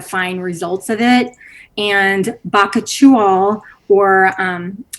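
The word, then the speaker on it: bakuchiol: results of it and baka chual or um there's lots of pronunciations you guys it's a weird word it can be baka chia baka chew all um it is a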